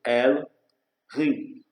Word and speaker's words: Elohim: Termo comum usado nas escrituras hebraicas, Elohim pronunciando El-Rim.